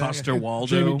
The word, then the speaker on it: Coster-Waldau: Coster-Waldau.